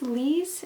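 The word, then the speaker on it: Lise: little princess or um i think it's lee's is how you pronounce her name elizabeth it's andre's wife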